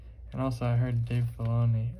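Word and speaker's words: Filoni: also i heard dave fellaini i think it's like you say his name i think that's how you say it baloney the guy that made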